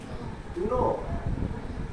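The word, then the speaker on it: knee: दूसरा वर्ड देखो, नी। यहाँ पे के बाद एन आया तो के इज साइलेंट।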